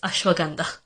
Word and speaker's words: ashwagandha: her gandha and Himalayas it's Himalayas and it's ashwagandha I feel like every time I tell people